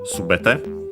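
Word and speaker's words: すべて: And yeah, because of that, the form of it, subete, accent on the first syllable, and so yeah, regular for the form.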